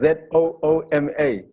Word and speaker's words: Zuma: My name is Zooma. So how different is it from we pronounce Zuma, no Zuma?